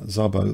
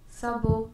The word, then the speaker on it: Szabo: So a fantastic player, Hungarian player, uh, Zabo, the pronunciation, Zabo Lasslo.